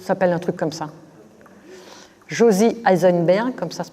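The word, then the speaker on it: Josy Eisenberg: Josie Eisenberg, comme ça se prononce, et Armand Abécassis.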